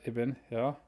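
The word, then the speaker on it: ابن: is it the word eben are these two words isim and eben you only pronounce the alif when it's at the beginning of the sentence what do i mean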